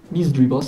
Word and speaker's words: Misdreavus: Misdreavus sería la pronunciación correcta.